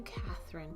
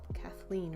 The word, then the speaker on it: Kathleen: really cool i think i was calling you catherine but what your name is kathleen right i'm sorry if i